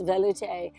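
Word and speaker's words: velouté: tomato the loot sauce so velute sauce the accent is on the E so it's velute sauce that's 33.95 this is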